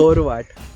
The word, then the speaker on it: चोरवाट: और मराठी में इसका प्रोनाउंसिएशन कुछ ऐसे होता है, कैसे होता है? चोरवाट। तो ये चोर र बोलते हैं पीछे, चोरवाट।